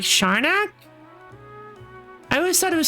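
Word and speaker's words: Siarnaq: Sharnak, pronounced Sharnak, is the name of an irregular non-spherical moon of Saturn that follows an eccentric retrograde orbit.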